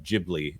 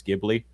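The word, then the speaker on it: Ghibli: Max by the way it's studio uh jibli according to dbud Martin in the original Italian it's gibli but uh they've made a joke over there at studio jibli uh that they mispronounced it uh forever ago and they're staying with it fairly certain that uh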